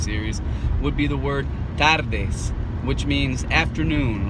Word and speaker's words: tardes: But tardes is a hard word because it's got 3 of the hardest consonants to pronounce for the average American in Spanish. So that's why I want to make sure that you have the te and the de sound, because you're going to be alternating between those 2 consonants and the hardest letter in Spanish, which is ere, not r.